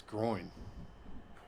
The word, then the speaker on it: groin: say my growing no there's no g at the end of it am my growing it's groin groin are you messing